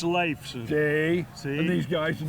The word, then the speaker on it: Leifson: It's Leifson.